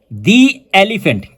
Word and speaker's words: the: फिर दी को हम दी पढ़ते हैं। मसलन दी एलीिफेंट। क्यों? क्योंकि एलीिफेंट में हमारे पास है इ और इ वोवेल में आ रहा है। इसलिए दी एलीिफेंट।